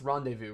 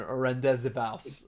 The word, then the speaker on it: Rendezvous: This is, oh yeah, the one I couldn't pronounce. It's Rendezvous, right?